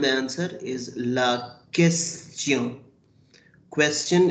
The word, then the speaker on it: question: Question is written same, but it is pronounced as la question, la question, and la réponse.